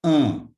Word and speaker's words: un: this little word is has a nasal sound in the top of the nose which is actually not found in in english at all so the pronunciation of this is uh and you need to